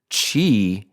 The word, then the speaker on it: Qi: viewed asqi or spelled Qi everything isqi and Chi is what is this it is a it's